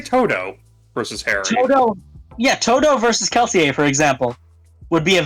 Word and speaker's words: Kelsier: Even if I was thinking of using Kelsier. I believe the R is silent, but Regardless, a full Mistborn would probably body most standard magic users.